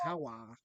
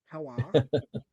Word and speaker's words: HELWÄR: It's HELWÄR. HELWÄR.